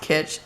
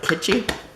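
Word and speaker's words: kitsch: I think it's pronounced kit it's k i t s c h Flamingo I think it's like kitchy but I could be wrong if you know let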